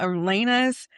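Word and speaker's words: Alina: I think I just said her name wrong, too. Isn't it Elena? Elena.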